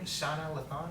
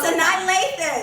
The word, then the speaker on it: Sanaa Lathan: Shauna Lathon or something?